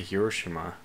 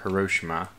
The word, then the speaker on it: Hiroshima: So we have our first nuclear bomb on the way to Hiroshima, or Hiroshima.